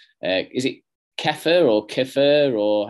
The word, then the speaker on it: kefir: a few weeks ago called uh is it keffer or kefir or how did you pronounce it dan kefir yeah fear so kefir um is is an